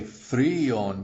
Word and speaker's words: фреон: It's tempting to say freon, but it's freon, which is freon.